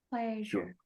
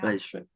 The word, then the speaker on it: pleasure: Pleasure. Yeah. Pleasure. Cái âm này là cái âm j, giống như kiểu mình đọc là Asia.